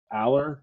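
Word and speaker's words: Allar: Maddox, he threw for that 304 yards to Drew Aller. Is that how you pronounce his last? Aller.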